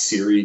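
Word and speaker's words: CIRI: single nellie and richard c-i-r-i it's usually pronounced siri data was they they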